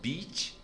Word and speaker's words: beach: Então, beach, bitch, aqui, beach, bitch, aqui, beach, bitch. Aqui. Agora, o brasileiro, no português, a primeira palavra que é praia, nós pronunciaríamos bitch. I'm going to the beach. E bitch é prostituta, né? É a cadela. I'm going to the beach. E a outra, que é com I, B-I-T-C-H, o brasileiro pronunciaria essa I como beach. Beach porque tem a letra I. E é justamente o oposto.